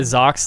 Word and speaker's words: Zox: small not really well-known zox like spelled like like socks but with z yeah sorry i've